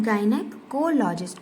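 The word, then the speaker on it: gynecologist: तो गायनेकोलॉजिस्ट वो पर्सन होता है जो किसी फीमेल की डिजीज को पढ़ता है। अब इसको हमें प्रोनाउंस कैसे करना है? गायनेक कोलॉजिस्ट कोल पे हमें फोकस करना है।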